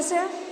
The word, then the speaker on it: sew: Spelling क्या है इसकी? SEW, और इसको रीड क्या करते हैं? सो।